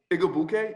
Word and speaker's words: Igwebuike: Nice job with the name pronunciation, by the way. Igwebuike, yeah, I worked on it.